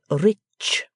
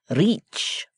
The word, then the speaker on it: rich: Our English adverbs do not terminate in mong, and we pronounce the ch as if there were a t before it. We say rich. Reach, remarked the foreign gentleman.